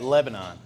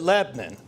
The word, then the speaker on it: Lebanon: I grew up in Lebnin, Pennsylvania. You might pronounce that Lebanon. But those of us who grew up in the Pennsylvania Dutch country, we pronounce it Lebnin.